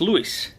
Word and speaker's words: Louis: And on with the next one, Louis Stewart, who loves bus 7161, and his name is pronounced Lewis.